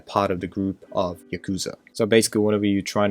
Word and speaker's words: yakuza: with organized crime gangs which is called yakuza or in proper japanese pronunciation yakuza they actually pledge that they're